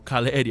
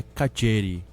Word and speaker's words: Calleri: Do Pedro Cunha, como se pronuncia o nome dele, pro ouvinte que não tá ligado com a gente aqui, como se pronuncia o nome dele na província de Buenos Aires, é Cadieri. Um CH.